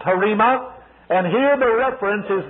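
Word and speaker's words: rhema: spelt rh ema in the greek but it's pronounced harimah and here the reference is not to the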